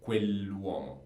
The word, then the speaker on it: quell'uomo: So quell'uomo. And you should pronounce it perfectly. When we have an apostrophe in Italian, it becomes like a very long word.